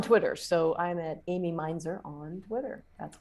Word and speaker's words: Mainzer: uh i'm on twitter so i'm at amy meinzer on twitter that's right my job i'm mispronouncing your last name shame on me it's